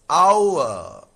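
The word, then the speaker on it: hour: Option B is our the H is silent.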